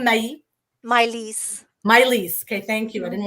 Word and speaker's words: Mai-Liis: me how do i say your name my miley's okay thank you i didn't want to i didn't want to mispronounce that but same with yourself you talked